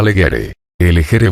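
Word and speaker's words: legere: ryun mudaré el eje clásico se pronunciaba leguere vulgar se pronunciaba con una G parecida a la del italiano género del francés henrre sonido completamente nuevo por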